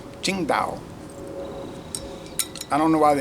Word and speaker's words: Tsingtao: She said, no, it's pronounced Qingdao.